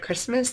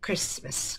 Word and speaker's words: Christmas: Christmas yeah for any words that sound different than you see maybe like if you have your book and you have the word Christmas there and you are forgetting oh I forget I forget how to say it you can just write in there right k r i SS m i SS then when you go back you will remember oh Christmas Christmas good it's like